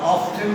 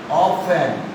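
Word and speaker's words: often: আগে ও ফর অফেন, আবার অফটেন উচ্চারণ করো না, এটা অফেন, ও ফর অফেন।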